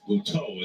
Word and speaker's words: Butto: He had previously said it was proper to say Butto, but he acknowledged today that Butto is the proper pronunciation.